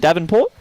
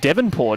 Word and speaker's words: Devonport: Michael I'm pretty sure I said Davenport or is it or is it devonport is that how you say it devonport there you go it's an e this could be five